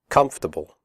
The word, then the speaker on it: comfortable: we say debt comfortable the word comfortable has three syllables not for the o.r is silent we say comfortable not comfortable comfortable clothes